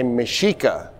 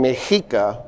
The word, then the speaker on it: Mexica: So what I've noticed is a lot of people will say Mexica, S-H. I'm saying Mexica, and here's why.